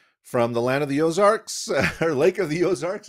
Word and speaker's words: Ozarks: And it is, you know, Ozarks is a kind of an Americanized version of French Ozarks, which is of the rainbows. So I don't know if you've think about that French AUXARCS, but we pronounce it Ozarks.